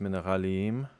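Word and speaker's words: מינרלים: I don't know why, but pronounced mineralim. That makes sense. Like minerali im.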